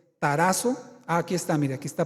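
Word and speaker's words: ταράσσω: Turbo es una palabra griega que se se pronuncia tarazo con doble s tarazo Aquí está Mire Aquí está proyectado al frente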